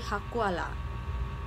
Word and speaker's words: hakola: Tapi tulisnya hakola, tapi ketika di pronounce atau diucapkan, maka logatnya tuh akan berbeda menjadi hakuala.